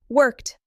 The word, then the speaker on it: worked: Worked, played, visited. Worked ends with a soft T.